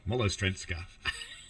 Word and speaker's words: Malostranská: Malostranská. At least now I know how to say the station. Molostrenska. Yeah, that's right.